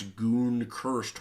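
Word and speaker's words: Gutekunst: guy Brian goon cursed believe his name is goon cursed with a silent E and the Packers bring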